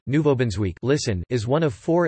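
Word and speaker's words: Nouveau-Brunswick: new brunswick french nouveau brunswick canadian french pronunciation nouveau benz week listen is one of four Atlantic provinces on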